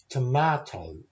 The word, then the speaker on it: tomato: But two of those words have three syllables. Tomato. Pajamas. And it's important that we're not jumping over the second O or the second A. We say those letters as a long O and a sort of a shortened version of a normal A.